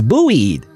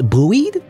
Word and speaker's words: buoyed: this one before it's buoyed see English language like the way it's spelled in the way it's pronounced so weird but it's buoyed buoyed buoyed as if by